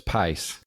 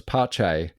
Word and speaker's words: Pace: F1 stuff in 1973, I thought that was pace. Yeah, we also I didn't realize the correct pronunciation was Pache.